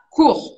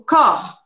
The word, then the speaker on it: cour: n'ai jamais pris aucun, você queria me falar cour, e aí você pronunciou com a letra O, porque você lembrava que se escreve com O. E você falou corps. Só que corps em francês é o corpo.